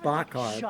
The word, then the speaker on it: Bachar: A guy that you've never heard of and will never hear his name again, Deon I think it's pronounced Bachar, b a c h a r, who is a personal friend of Parker and Stone.